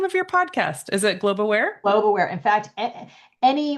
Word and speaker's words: Globe Aware: A lot of people say global, I think make it two syllables, but it's just Globe Aware.